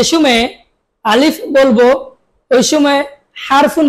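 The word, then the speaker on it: ث: আপনাকে খেয়াল রাখতে হবে জিহ্বার আগা এবং দাঁতের আগা দুটি লেগিয়ে দিয়ে তারপরে উচ্চারণ করতে হবে সা বলুন সা আবার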